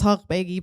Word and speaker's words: Eshaghbeigi: kind of last name if you're curious it's pronounced as Hulk McGee but truthfully I didn't really know that for